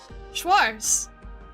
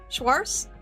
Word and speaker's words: Schwarz: Schwars, are we back in Christmas? Is it Is it schwars? Is that how you pronounce it? Schwarz.